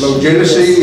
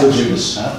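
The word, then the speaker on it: Loguidice: Logidicy, or? Lejudas. Huh? Lejudas. It's pronounced Lejudas.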